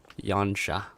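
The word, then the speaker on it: Yanxia: Apparently they can be pronounced as sh Yanja Hamakaz. So X is mostly shot.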